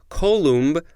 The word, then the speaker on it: coulomb: that is equivalent to a flow of one coulomb per second or to the steady current produced